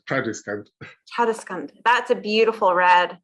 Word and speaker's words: Tradescant: That's in trad jazz, so it's Tradescant.